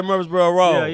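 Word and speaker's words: Murfreesboro: for you is it Murphy's bro Boulevard Murphy's bro Pike Murphy's bro Parkway oh Pike there you go okay okay okay I guess I understood the name wrong cuz we just say murb roll I hope he get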